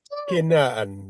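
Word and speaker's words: כנען: Alors, quel est les Sheva là? Tu as vu, tu les as prononcés et Oui. parce qu'ils se Donc, trouvent en début de syllabe.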